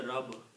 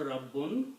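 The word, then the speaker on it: ربٌّ: word we should say we should try to pronounce bar twice a lot of people just say rubber that's no word like rubber okay if you you have to say the full word rabbun but if you are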